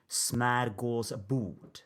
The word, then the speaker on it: smörgåsbord: I use the English pronunciation, but if I wanted to say this word in Swedish, where it comes from, it would be smörgåsbord.